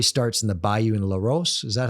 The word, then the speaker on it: Larose: Story starts in the Bayou and Laros. Is that how they pronounce it? LaRose.